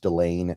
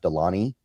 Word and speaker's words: Delane: I think it is pronounced Delane, not Delany.